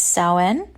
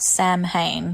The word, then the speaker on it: Samhain: to pronounce that so from what i understand it's sauen not samhain which for a lot